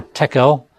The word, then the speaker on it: tekel: And then the third column to the right would read TKL vertically, and you put the E's in there for tekel.